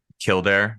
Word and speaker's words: Kildare: how like you're you're from Ireland correct the Kildare yeah I even think I've been there because my wife and I went I don't I don't know what year it was maybe like 2018 or something and Kildare is that how you say it yeah and